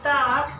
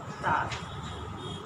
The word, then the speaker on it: Tag: By the way, Tag, pronounce it like that. You have to pronounce it like that. Tag.